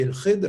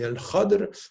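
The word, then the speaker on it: الخضر: Alors, on a plusieurs façons de le dire. On dit el-Khidr, on dit el-Khadr, on dit el-Khadir. Donc, on a de ce point de vue différentes façons de prononcer son nom.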